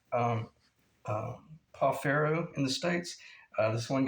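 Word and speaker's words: pau ferro: would call um, uh, Pafero in the States. This one guy, his name is Marco, who told me that it's pronounced Pafijo.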